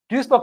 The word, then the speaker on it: Duisburg: Well, it's definitely pronounced Duisburg. So Duisburg and Essen are 2 cities, and apparently they have a shared university faculty of computer science.